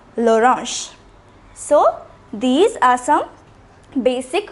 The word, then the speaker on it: orange: The spelling is the same. It is orange. The spelling, it is pronounced l'orange.